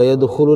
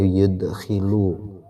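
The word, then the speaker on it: يَدْخُلُ: isim-isim atau asma tadi saya membacanya yudkhilu. Yadkhulu yang paling pas kalau yudkhilu itu memasukkan yadkhulu ya w yadkhulu dan tidak masuk ha kan ya af'al alfabdu oleh khat.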